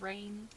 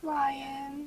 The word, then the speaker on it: Ryane: I thought it was Rain. Rain. Definitely not. Or like Definitely Rayan not. or something like that. No, it's Ryan. What the heck? It's literally spelled Ryane. Ryan.